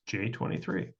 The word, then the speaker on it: Jxxiii: XX I I I so like Roman numerals pronounced j23 Joyce Ln or j23 is a nigerian-american rapper